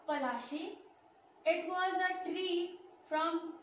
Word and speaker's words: Palashi: Palasi is an anglicized pronunciation of Palashi.